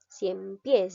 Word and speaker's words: ciempiés: ciempiés que palabra sería ciempiés lleva la mayor fuerza de voz en la sílaba pies por lo tanto